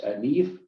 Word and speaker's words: Niamh: So another nice option, similar vein, if we look at the Irish word, female names, Niamh.